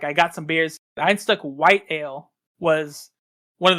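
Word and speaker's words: Einstök: I've always called it Ein stock so did I yeah but I learned today I learned today the o with the two dots above it is pronounced like an uh so it's Ein stuck yeah all right yep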